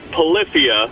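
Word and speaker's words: Polyphia: here because I am a huge fan of Polifia, which is the correct way to pronounce that name.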